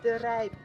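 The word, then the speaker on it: De Rijp: How do we pronounce it again? Yanka. The rape.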